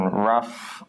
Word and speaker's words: rough: It can also sound like, don't ask me why, but it can make an F sound, as in rough or cough or tough. Here it becomes F.